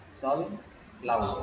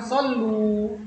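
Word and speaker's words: صَلَّوْا: Harus pakai fathah. Fathah ini pengganti alif yang kita hapus tadi. Apa ya? Kalau antum katakan sallu, karena lebih enak pengucapannya kan? Karena sukun, waw sukun itu bunyinya u, akhirnya ganti dengan sallu.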